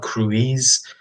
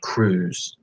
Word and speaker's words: cruise: make that sound so it's not crew ease but cruise I think after Tom